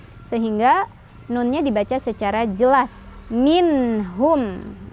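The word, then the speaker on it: مِنْهُمْ: Minhum ya, bukan minhum tapi minhum, nggak boleh mantul.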